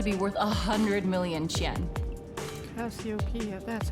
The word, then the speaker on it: Cassiopeia: Cassiopeia, that's how you say it.